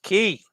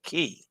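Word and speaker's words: Cay: Everything else is Key. K and Quay is always pronounced Key.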